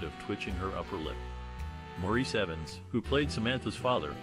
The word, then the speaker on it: Maurice: Maurice Evans, who played Samantha's father, was often called Morris by his co-star Agnes Moorehead due to his first name's traditional English pronunciation.